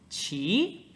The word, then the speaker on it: 骑: 左边是马，然后右边是发音部，叫骑。那大家你可能已经意识到了，这个字虽然有马在里面，但是并没有马的发音。